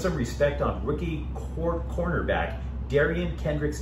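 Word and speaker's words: Derion Kendrick: Finally, definitely put some respect on rookie cornerback Kerryon Dendrick. Sorry. Put some respect, and by the way, I should pronounce it correctly. Put some respect on rookie cornerback Darian Kendrick's name.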